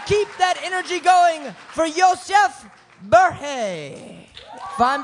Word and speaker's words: Yosef: And keep that energy going for Yosef Berhe. If I'm pronouncing that correctly. Yosef, yeah, you got it right.